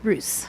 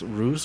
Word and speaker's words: Ruz: knew how to pronounce Bruce or yeah everybody puts an eye in my name I can figure it out yeah it's are you and now just so